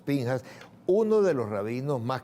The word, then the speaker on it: Pinchas: Lo escriben Pinchas, lo pronunciamos Pinjas.